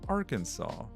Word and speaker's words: Arkansas: It's it's actually pronounced Arkansas."